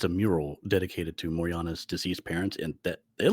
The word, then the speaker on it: Morjana: I believe it's pronounced Moriana. It's spelled Morjana.